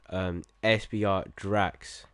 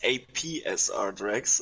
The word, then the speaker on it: APSR Drax: Yeah, it's APSR Drax, just to let you know. Oh, sorry. I've been saying it wrong. You always said it wrong in the stream, and I just wanted to tell you it's APSR, but just call me Drax.